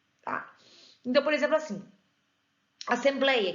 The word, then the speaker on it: assembleia: Então, por exemplo, assim, assembleia, que tinha acento antigamente, eu falo assembleia. Eu tenho o ei na penúltima sílaba, porque separa o blei a, certo?